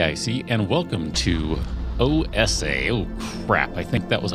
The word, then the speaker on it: OESE: tell you I know the game is called OSA because I asked now you might look at it it looks like it says OSE but o si that is how they pronounce it so I'm going to